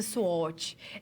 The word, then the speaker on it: SWOT: Aqui a professora traz para você que a nossa análise SWOT, ela pronuncia-se SWOT.